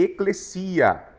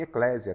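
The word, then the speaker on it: ἐκκλησία: É eclesia. Eclesia. Mais ou menos assim. Eclesia. Não fale em eclésia, tá, gente? Eclesia, pronúncia correta.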